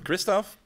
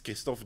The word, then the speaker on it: Christoph: My name is Christoph. If you want to pronounce that in Dutch, it's Christoph, but I'm fine with Christoph.